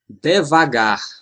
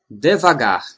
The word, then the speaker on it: devagar: Most of the time, the stressed syllable is the last one. So, that's how we pronounce these words. Devagar. Devagar.